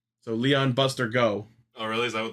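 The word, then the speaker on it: 五: so the 50 in all these weapons is pronounced go so Leon Buster go oh really is that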